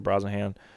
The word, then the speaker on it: Brosnahan: corn sweat no surprise but that's exciting Rachel Brosnahan things that's the way you pronounce it she's gonna be uh Lois Lane